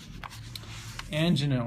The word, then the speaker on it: angina: Angina or angina, depending on your pronunciation.